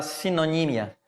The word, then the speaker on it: sinonimia: Que em espanhol é a sinonímia, né? Essa palavra ela é um heterotônico, né? Ela se pronuncia diferentemente da língua portuguesa, mas o objetivo, os conteúdos aí, né?